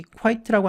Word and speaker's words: quite: 자, 이거로 이 quite라고 하는 단어를 학생들이 쓸 때 가끔 실수를 하는데 Q-U-I-E-T라는 단어가 별도로 있죠.